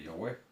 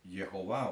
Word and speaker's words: Yahweh: No es ni aún, como algunos tratan de pervertir el nombre colocándole Jehová o Jehová, porque Jehová es un, una unión de dos palabras, Yahweh, y para no pronunciar su nombre utilizan Adonai, sacan las letras, las vocales del Adonai para entonces comprometer el nombre, pervertirlo y colocar Jehová.